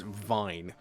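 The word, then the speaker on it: Wein: My surname is Vine, but it's spelt W-E-I-N, right? So in German, Vine is wine.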